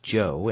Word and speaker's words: Cho: Joe is amazingly Cooperative Joe spell it Cho if you want to be exotic it still pronounced Joe and that's his name